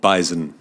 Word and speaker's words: bison: animal that is called Bison it is it does have a z I agree with the